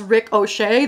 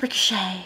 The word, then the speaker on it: Ricochet: I have been alerted to the fact that I pronounce Ricochet as Rick O'Shea, the proper name, and I don't know how to fix that.